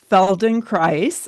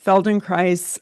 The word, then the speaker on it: Feldenkrais: I made my way into a Feldenkrais. I know the name is tricky. It rhymes with nice. I made my way into this Feldenkrais awareness through movement lesson, and it was like nothing I had ever done before.